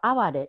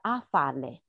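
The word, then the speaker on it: あわれ: 看一下，它叫阿瓦雷，日语写的阿瓦雷，它实际上原来在平安时代大概要发音是阿法雷，有一点音和现在音不太一样。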